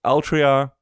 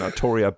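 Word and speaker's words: Artoria: franchise before, which is Altria. Um, I still like the pronouncing Arttoria better because it makes more sense in regards to she she is a gender bent version of King Arthur.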